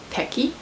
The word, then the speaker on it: Pequi: In Amazon, I googled the pronunciation and it's Pequi. P-E-Q-U-I. According to Google, that's how you pronounce it, so that's what we're going with.